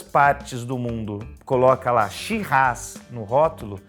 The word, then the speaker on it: Shiraz: australiano e olha só eu não falei sirrá eu falei she-ras e porque que a pronúncia é diferente por causa da língua inglesa né porque os ingleses não conseguiam pronunciar direito se errar que é o nome francês dessa uva é a mesma